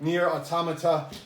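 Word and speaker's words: NieR:Automata: this and that is near automata that is how you say it near automata the black box edition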